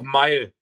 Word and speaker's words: Mael: Ja, es ist einfach Mile. Mile, okay. Einfacher als man denkt.